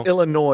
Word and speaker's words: Illinois: it's Illinois. You don't pronounce the S.